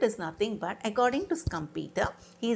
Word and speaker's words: Schumpeter: No, it is not Schumpeter. You need to pronounce Joseph A. Schumpeter.